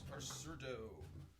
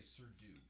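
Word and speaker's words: surdo: get on papa cerdo sometimes people say sir dude it's not spelled like that it's about s-u-r-d-o take it down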